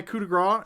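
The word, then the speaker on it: coup de grâce: Cody, I don't know if you didn't know, but it's actually pronounced coup de grace.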